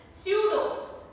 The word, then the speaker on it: pseudo: Then pseudo, pseudo. Psychology, psychology. Pneumonia, pneumonia. Psychiatry, psychiatry. So P is silent in all these words. It is there in the spelling, but it is not there in the pronunciation.